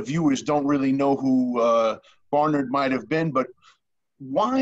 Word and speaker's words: Bernard: Well, the governor himself pronounced his surname Barnard. Barnard. And I know Americans pronounce it Bernard, but use whichever version you wish.